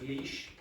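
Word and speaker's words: Laois: a o i s how do you think you pronounce that le le leash leash okay that's leash this is where ow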